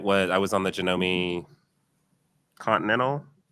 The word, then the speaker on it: Janome: So it's Janomi. Yes. Um it's actually so in Japanese it's actually Janome.